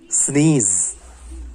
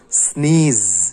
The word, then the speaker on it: sneeze: எந்த ஒரு English word எடுத்துக்கிட்டாலும் எண்டிங் வித் இ, அந்த இ லெட்டருக்கு வந்து நம்ம வந்து ப்ரொனவுன்ஸ் கொடுக்கவே மாட்டோம். ஸோ அதனால தான் நம்ம சொல்கிறோம் ஸ்னீஸ்.